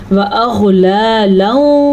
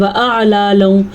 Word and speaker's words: وَأَغْلَالًا: بعض لوگ پڑھتے ہیں وَأَعْلَالًا، یہ عین نہیں ہے، یہ غین ہے، تو آپ نے غین کو غین ہی پڑھنا ہے اور عین کو عین پڑھنا ہے.